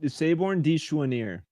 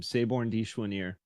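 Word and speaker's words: Sabourin dit Choinière: I'm not trying to pronounce that. Saborn de Chouanier. Okay, thanks. That's how you pronounce his name. Saborn de Chouanier.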